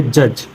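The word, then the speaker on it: judge: Next is, क्या लिखा है, एज, ये पढ़ेंगे हेज, इसे पढ़ेंगे जज। नेक्स्ट है ई कब साइलेंट होता है।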